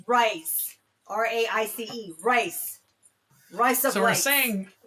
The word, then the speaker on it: rise: have to say the word rise with the Australian vowel, which is almost like the word rice.